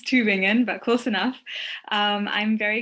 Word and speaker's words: Tübingen: You were almost right with the pronunciation. It's Tübingen, but close enough.